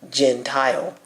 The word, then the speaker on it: Gentile: You have to think about the term Gentile. That's what these people are. But what does that term mean? Well, Gen in Gentile is spelled Gen, but it sounds like Jinn.